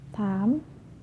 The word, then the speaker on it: thumb: For the example, climb, crumb, lamb, thumb, jam, plumber. Climb, crumb, lamb, thumb, jam, plumber. So I'm not pronouncing the B, I'm just pronouncing the M consonant sound.